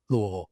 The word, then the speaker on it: Louisville: I love how you pronounced it correctly. Louisville.